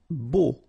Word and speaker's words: beau: Beau. Okay, so remember we've got this strange combination of vowels, E, A, U, so three vowels, but then phonetically it's only O. Okay, so beau.